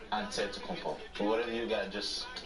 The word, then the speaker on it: Antetokounmpo: greek way you say with the empty like antetokounmpo whatever you gotta just say you know it